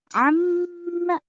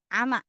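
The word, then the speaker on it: عَمَّ: Amma. Mimnya gunnah. Tasdid. Jadi jangan ama. Salah. Amma.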